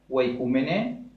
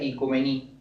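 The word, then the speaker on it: οἰκουμένη: La palabra viene, que se pronuncia oikoumene, que al pronunciarla de forma moderna se pronuncia ikumení, tierra habitada significa.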